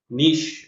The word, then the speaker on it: niche: That is how we organically arrive at a এটা উচ্চারণ কি হবে? নাইশ নাকি বানানটা বলেন দেখি। নিশ আমরা পড়েছিলাম ওই যে গোয়েন্দার আর্টিকেলে, মনে আছে? নিশ। Oh, sir, জি sir.